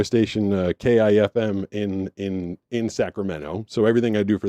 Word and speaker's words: Sacramento: And then like funny little colloquial things like people in Sacramento don't say Sacramento which I did not know. They say Sacramento. They don't put the T in it at all.